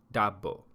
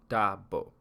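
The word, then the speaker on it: ዳቦ: some Ethiopian bread and bread in Amharic is pronounced double double so it's common for not at a restaurant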